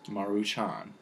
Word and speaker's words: Maruchan: 1958 and were invented in Japan the correct pronunciation is Maruchan anyways they became very popular because of their